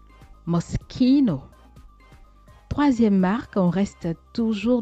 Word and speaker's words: Moschino: Et mes très chères modeuses, mes très chers modeurs, ne dites plus Moschino. Moschino. Il faut plutôt prononcer Moschino. Moschino.